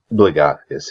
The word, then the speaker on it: Blagothkus: Blagothkus, is that how you say it? Blagothkus, yes.